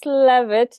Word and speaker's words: Leavitt: Now let's get communicating with Leavitt. Did I say that right? You Leavitt.